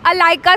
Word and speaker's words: Allica: ऑफ my name, क्योंकि बहुत लोग उसको गलत प्रोनाउंस करते हैं। इट इज़ अलाइका 61, यही कोड है, आप यहीं आके बोलेंगे।